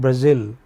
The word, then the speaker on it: Brazil: See, the capital of Sorry, the the country called Brazil okay? This is stressed on the final syllable.